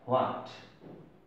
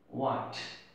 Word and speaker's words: what: W এর পরে যদি H থাকে তাহলে সেই H-টা উচ্চারণ সাধারণত হয় না।